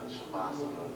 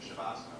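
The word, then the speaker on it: Savasana: My favorite would have to be the Shavasana when we do it again.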